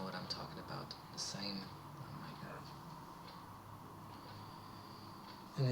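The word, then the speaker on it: Sejm: oh my God and it's written like s e j m not s a m e so it's not it's not an English word it's pronounced the same but it's a Polish word uh I I can't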